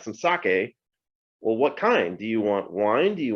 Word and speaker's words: sake: this easy four letter word so um it's pronounced sake now we're not in a live audience and